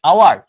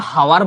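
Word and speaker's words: hour: আওয়ার, normally তো হাওয়ার বলা উচিত ছিল, হাওয়ার। হাওয়ার না বলে কি বলতেছি? আওয়ার, আওয়ার। ব্রিটিশরা আওয়ারও বলে না, বলে আওয়া, লাস্টের আরটা সাইলেন্ট রাখে।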